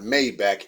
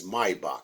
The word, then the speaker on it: Maybach: an old Maybach yes it's not Maybach its Maybach that's how you pronounce it get it right what if it was